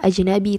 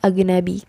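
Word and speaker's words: أجنبي: hai kenapa ajnabi chord Bukan dibaca ajnabi tapi agen Abby karena selain yang telah dibahas tadi Kalau amiyah coffee dibaca Hamzah begitu juga huruf jim jim itu dibacanya go jadi dalamnya pop itu dibaca Hamzah gym dibaca go wine enak dan Eza dibaca ndak jadi disini dibaca agen nabi seperti itu Nah disini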